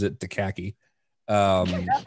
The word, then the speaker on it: Akacki: uh the AKA C Ki or as lint pronounces it daki um that's how I pronounce it dud it's